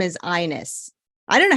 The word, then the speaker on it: Ines: My mom's name is Ines. I don't know how that happens. That's not. My. Yeah. No. It's supposed to be pronounced Inez because it's Inez. But if somehow that happened, her name is Ines.